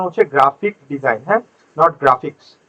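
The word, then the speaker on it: graphic design: করে তাকে আমরা বলি গ্রাফিক্স ডিজাইনার বুঝাইতে পারছি সো এখন থেকে কেউ গ্রাফিক্স ডিজাইন গ্রাফিক্স ডিজাইন বলবেন না একচুয়াল উচ্চারণ হচ্ছে গ্রাফিক ডিজাইন পিছনের এস টা আর হয় না সো এজন্য এখানে লেখা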